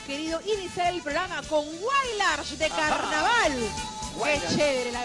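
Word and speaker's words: Huaylarsh: Bien, la manera de pronunciar correctamente de la palabra es Wailarsh.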